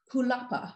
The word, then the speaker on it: Jalapa: But Yuyi was born in Jalapa. I believe that's how you pronounce the capital of Veracruz in Mexico.